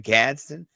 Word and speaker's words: Gadsden: a little bit of the heat here with Gadsden the second.